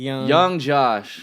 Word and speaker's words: YNG Josh: okay first of all what is yng Josh actually stays just abbreviation for young you know young Josh so I've been saying